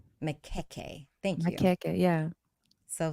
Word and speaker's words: Majoko: And so, can you confirm how am I supposed to, or how do you pronounce, or how is that name stated? Makeke. Makeke.